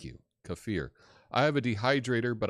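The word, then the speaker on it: kefir: bucks on that uh cfir cfir is how you say it thank you cafir I have a dehydrator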